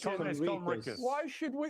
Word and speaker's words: Conricus: Mr. Kornikis asks the question. It's Conricus.